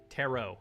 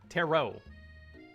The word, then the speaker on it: tarot: the red suit Terror tarot tarot that's that's a better spelling for that for me to understand I didn't know if you pronounced the T at the end the game I was